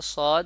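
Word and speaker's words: ص: এই হরফটির নাম হলো সদ এই হরফটি হলো জিহ্বার আগা নিচের দুই যে নিচের যে দুইটা দাঁত আছে মানে নিচের পার্টিশনে যে দুইটা দাঁত আছে সামনের ওই দুইটা দাঁতের মাঝ বরাবর থেকে যেমন আর এটি হলো জিহ্বার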